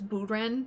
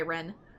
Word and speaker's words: Bren: Or like in Japanese, Bren can be really, really hard for some people to say, and I don't like it being pronounced as Buren because that means like sloth and laziness, so typically if somebody